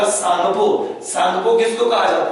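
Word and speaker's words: Tsangpo: और T silent होगा, सांगपो।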